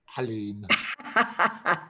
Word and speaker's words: Aline: and my good friend, pronounced as in apple, Aline.